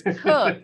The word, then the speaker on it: Koch: entails Coke aesthetic dentistry cook okay let's just tell everybody if they're looking you up your last name is not spelled like it sounds it's k-o-c-h yes but it's cooked it's cooked so I apologize for